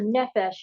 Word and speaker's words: nephesh: in English smell it n e p h e s h phonetically yeah so the nephesh is it's more than